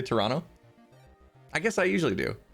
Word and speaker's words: Toronto: over the fact that everyone pronounced toronto with two t's instead of one that second t stuck out like a sore thumb toronto toronto dude most people just say toronto i guess i usually